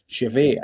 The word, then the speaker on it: Chevet: But the amount of people that have said to me, "How do you pronounce it?" It's Chevet.